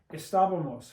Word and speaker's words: Estábamos: And if you want to say we were, you just make this, put an MOS and put an accent on the A. Estábamos.